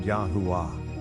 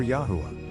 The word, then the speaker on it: Yahweh: When pronounced, this sounds out the word Yahua or Yahwa.